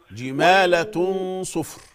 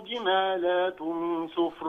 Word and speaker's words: جمالة: جمالة صفر. كأنه جمالات صفر. مفيش ألف لام، يعني مفيش بعد اللام ألف عشان نقول جمالات، لكن هي جمالة صفر.